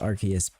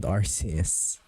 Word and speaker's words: Arceus: i still don't know i still don't believe that it's rks not rcs so uh how to pronounce says arcus they said they called it arceus so i think officially it's the right way of saying his arceus but i still think it should be called rcs i i don't know